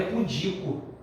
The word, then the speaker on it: pudico: vai achar sinal errada Qualquer blusa correta é pudico o ok pudim Então você lutando que é